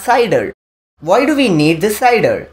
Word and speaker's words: CIDR: is classless interdomain routing it is cider cidr it is pronounced as cider why do we need